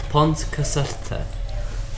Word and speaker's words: Pontcysyllte: Pontcysyllte. Pontcysyllte. Pontcysyllte. It's hard to describe how you do the double L sound.